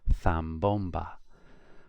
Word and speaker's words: zambomba: But for Spain, a Z is like a TH. So the word here, zapato, would be zapato. Or look at the next word. It would be pronounced zambomba.